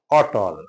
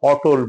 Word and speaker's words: অটল: এখন অটল অ ট ল অটল আমরা ভুল করে সাধারণত অটল বলি ট এ কোন ওকার নাই এবং অন্য কোন কারণে এটা ও উচ্চারণ হবে না এটা অটল উচ্চারণ হবে